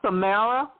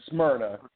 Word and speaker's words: Smyrna: located you have the Atlanta fibroid Center in Samara that pronounced it right the Samara location Georgia we're at um we're in uh West Atlanta in in Smyrna um it's uh about 15 20 minutes from